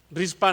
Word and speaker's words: Rizpa: Pero aparece que una mujer, hermanos, de un hombre extraño, incluso para nosotros, Rispa, dice la versión 60, reina 60, otras versiones dicen rispa con acento en la A.